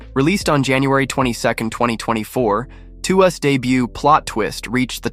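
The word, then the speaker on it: TWS: TWWS, pronounced as to us, is the first boy group since 17 that comes from Pletus Entertainment, a subsidiary of Hive Entertainment.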